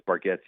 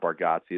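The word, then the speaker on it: Bargatze: I'm a I'm a huge Nate Bargetti fan and real fans know it's Baretti, not Bargotsi.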